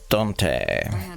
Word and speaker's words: Dante: this woman don't you Dante so it's pronounced Dante you deserve to know okay took me a